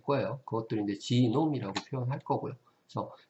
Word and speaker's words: genome: 그것들을 이제 지놈이라고 표현할 거고요. 그래서 게놈이라고도 읽죠. 그 게놈 이런 식으로 읽으면은 이제 저머니 독일식 발음이고요.